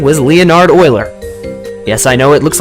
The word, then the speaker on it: Euler: greek letter pi this man's name was leonard euler yes i know it looks like euler but it's pronounced as euler you might have heard of him he didn't